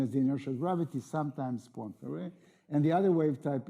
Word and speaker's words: Poincaré: Poincaré wave, we pronounce it Poincaré, I just want to make sure that.